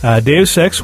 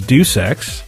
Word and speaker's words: Deus Ex: Deus Ex was Deuce Ex.